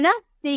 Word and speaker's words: niece: NIECE, आपको सी के बाद ई नजर आ रहा है ना, सी के बाद ई, यहाँ पे हम बोले थे ना ई, सी के बाद ई नजर आ रहा है, तो इसे स में प्रोनाउंस करेंगे, बोलेंगे नीस, नीस, NIECE, नीस।